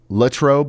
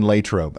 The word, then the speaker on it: Latrobe: I personally use Lutrobe more than Latrobe.